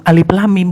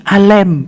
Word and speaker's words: Alif Lam Mim: Alif Lam Mim itu sebenarnya bukan Alif Lam Mim bacanya, tapi Alem. Itu bahasa Aram yang artinya Alem. Alem.